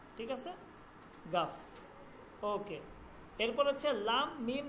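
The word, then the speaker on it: گاف: যদি এইটা একটু দেখি এইটা এইভাবে আসবে এইভাবে কাফের উপরে আরেকটা এটা হচ্ছে গা ওকে গা ঠিক আছে গাফ গাফ গাফ ঠিক আছে গাফ ওকে এরপর হচ্ছে লাম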